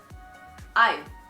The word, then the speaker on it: I've: It is pronounced as v, I've.